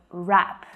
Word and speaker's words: wrap: all the time so this word has a cheeky silent letter in it so if you find